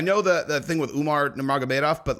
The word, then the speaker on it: Nurmagomedov: I'm like, I know, dude, but you know, it's spelled with a K. So Khabib, but Nurmagomedov.